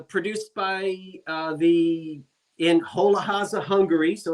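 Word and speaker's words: Hollóháza: Hola porcelain uh produced by uh the in Holahaza, Hungary.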